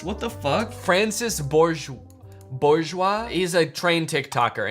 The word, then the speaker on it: Francis Bourgeois: No, wait, why did I say Francois? His name's Francis. What the fuck? Francis Bourgeois.